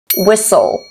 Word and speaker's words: whistle: aumn autum column column s n letter T is silent fast fasten listen listen s d e letter T we have castle castle whistle whistle